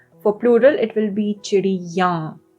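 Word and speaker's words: चिड़ियाँ: For plural, it will be chidiyan. Right? The ya sound then becomes nasal for plural.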